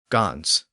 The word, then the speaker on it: Gans: like Goose for example modern German pronounces the word as Gans in Dutch it's Hans both have that in sound at the end but English has dropped